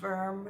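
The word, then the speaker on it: Wurm: My last name is Worm. It's spelled W-U-R-M. You can pronounce it Worm if you want.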